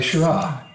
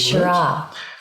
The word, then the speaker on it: Shiraz: Semillon, It's a bit like I say Shiraz. I don't say Shiraz or Shiraz, which I think are hard, ugly words. Shiraz.